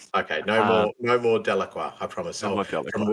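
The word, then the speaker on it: Delaque: sound like a snooty Frenchman when you say Delacroix. Because I pronounce it correctly, Delacroix.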